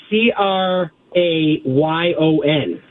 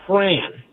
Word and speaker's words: crayon: How do you say C R A Y O N? Crayon. 100% right. Most of the country, including the Northeast, says cran.